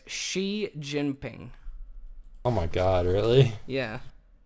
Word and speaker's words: Xi Jinping: Xi Jinping. So it's Xi Jinping.